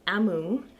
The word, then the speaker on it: Omu: An author's note explains that Omu, pronounced Amu, means queen in the Igbo language of her parents, but growing up she used to use it for grandma.